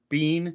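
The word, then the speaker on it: Biehn: know you've got sigourney weaver i love michael bean is how i always pronounce it yeah i do too um and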